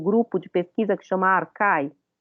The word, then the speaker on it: Archai: de pesquisa que chama Arcai, que se escreve Archai, né? Arcai, porque o CH tem esse som na transliteração do grego.